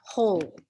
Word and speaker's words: whole: somebody wanted to know about the silent w in whole as in the whole megillah the whole thing this word here so